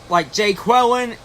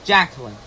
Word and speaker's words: Jacqueline: However, but my favorite sketch of all was the substitute teacher, where he pronounced the student's wrong name, like Jay Quellen, which is actually Jacqueline.